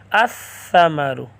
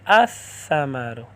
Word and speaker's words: الثمر: ہے، تو یہاں بھی الف لام میں جو لام ہے وہ سا میں مدغم کر کے پڑھیں گے الثمر پھل۔ الف لام لکھیں